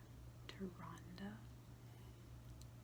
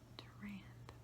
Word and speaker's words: Tyrande: The game calls her Tyrande, and that bothers me immensely, because much in the way that very few of us pronounced Hermione until we saw the movies, I read a lot of lore calling her Durand in my head, and I do not like the way that Tyrande sounds, so I'm sticking with